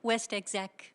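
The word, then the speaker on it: WestExec: How do you pronounce it? West Exec.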